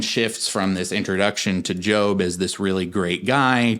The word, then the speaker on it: Job: with and that is the Book of Job that's spelled j o b so some of you you might have been pronouncing it the Book of Job I definitely did that before Seminary so like